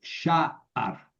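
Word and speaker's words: שער: Y sha'ar, con el acento aquí.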